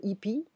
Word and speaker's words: hippies: I'm not pronouncing the H in French. Il y a beaucoup de hippies qui maintiennent la paix, qui protègent la paix, qui maintiennent la paix.